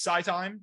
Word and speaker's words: SiTime: talk about today is Sci time SCI time I believe is how we pronounce it yeah the ticker there